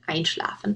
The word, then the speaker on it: einschlafen: For the two examples here, you have anrufen and einschlafen. Anrufen to call, einschlafen to fall asleep. And you see the stress is on the prefix. You wouldn't say anrufen or einschlafen.